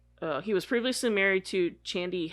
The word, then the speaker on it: Chandi: was previously married to chandi Hefner I think that's how you say it though Shandy is that how you say it c-h-a-n-d-i yeah that sounds better though not much is